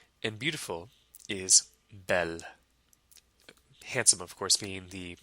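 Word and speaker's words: belle: handsome so handsome is Bo and beautiful is Bell handsome of course being the masculine version and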